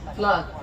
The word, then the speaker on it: Flute: Flood, like a flood.